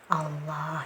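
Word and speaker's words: الله: kemudian setelahnya ada lafaz Allah jadi dia harus tafkhim harus tebal ya cara bacanya Jadi bukan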